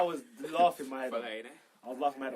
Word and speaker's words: Fellaini: What's with the Fellaini pronunciation? No one seems to get it right these What? days. Fellaini. Fellaini was from Van Gaal, and then Koeman called him Filiani.